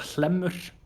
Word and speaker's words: Hlemmur: It's called Hlemmur. That's it. Yeah. I couldn't pronounce it.